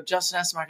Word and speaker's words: Essenmacher: And they all come up to me and they go, how do you pronounce it? I go, Justin Essenmacher.